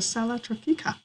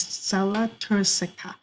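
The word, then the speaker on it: sella turcica: here in the middle is known as the sella tropica actually i said it wrong the correct way of saying it is cella tursica so the stella turisektop that's how you pronounce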